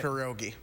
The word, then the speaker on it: pierogi: Yeah, pierogi.